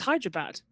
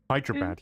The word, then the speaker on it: Hyderabad: is it I do I was thought it was Hydra bad Hyderabad yeah I can't remember that